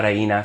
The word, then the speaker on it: reina: Me, sir, before asking, ¿Dónde está la Reina Sofia? Where is the Reina And actually, his pronunciation is not great there. It's reina, reina, la reina.